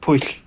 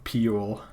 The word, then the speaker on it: Pwyll: Like there's a in the Mabinignon, there's a tale of this king whose his name is spelled Pwyll. It's pronounced push. Yeah, I'm gonna call him Pule. Pow. Pule?